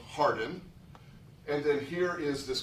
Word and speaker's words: Hawarden: And that's spelled Hawarden in Welsh, but it's pronounced Harden. It looks like Hawarden.